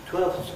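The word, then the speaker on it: twelfths: 12ths, I didn't say the F.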